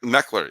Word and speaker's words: Meckler: and the kid uh meckler is that how you pronounce his name uh this is yeah meckler that he came in and